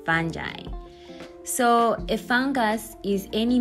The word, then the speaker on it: fungi: I used to pronounce it as fungi, but because of my lecturer, he always pronounces it as fungi.